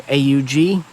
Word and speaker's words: AUG: And Styer's new AUG.